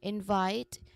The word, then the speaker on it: invite: So we try to emphasize here our voice on the second syllable which is vite because we are referring to a verb um f a verb word. Okay. Invite, not invite but invite.